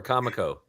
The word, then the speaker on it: Comico: love that the cover is a tribute to kamiko or Comico is the proper pronunciation I was always wondering yes kamiko okay that's great that's great that's got a